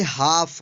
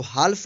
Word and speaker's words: half: HALF, इसको पढ़ेंगे हाफ, हाफ means आधा, इसको हाल्फ नहीं पढ़ेंगे, क्या पढ़ेंगे, हाफ।